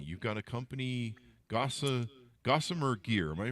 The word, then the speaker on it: Gossamer Gear: start your company you've got a company gossa gossamer gear am I pronouncing that right yep gosar Gear Well my